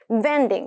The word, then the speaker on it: vending: 발음 비슷하죠? bending, vending. 그래서 구분해 두시길 바랍니다.